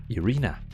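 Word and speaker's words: Iryna: She is actually in real world not called Irene. She's actually called Irina. It's spelled I-R-Y-N-A. So Irina.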